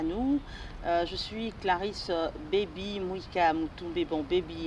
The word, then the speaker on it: Baby: Je suis Clarisse Baby Mouika Moutoumbe. Bon, Baby, il y a beaucoup de gens qui se dérangent un peu. Ça s'écrit B-A-B-Y comme bébé. Comme bébé en anglais.